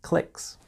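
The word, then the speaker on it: clique: And there are often fights or disagreements between different clicks. You probably noticed already that click is spelled C L I Q U E because it's coming straight from French.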